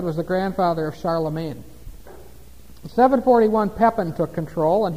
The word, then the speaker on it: Charlemagne: title he was called Charlemagne now look at that it looks like Charl Magne doesn't it Charlemagne that's the French pronunciation Charlemagne they don't say the G there okay looks like Charla Magni what it means is